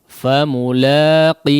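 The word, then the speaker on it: فملاقيه: Perhatikan famulaqih. Nah, haknya dijelaskan ya, pengucapan hamzah sukunnya dijelaskan. Famulaqih.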